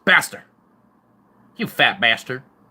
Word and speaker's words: Baster: It's Fat Baster. You know, it's like bastard, but you kind of mute the D. It's just Baster. It's a bastard. It's Baster.